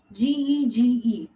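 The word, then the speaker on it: 哥: G, G, flat tone. G, G. Again, G, G. It's going flat. Ge.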